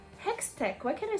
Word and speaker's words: Hextech: help but um realize the parallelism of what's hectex hextech why can I say it correctly how's that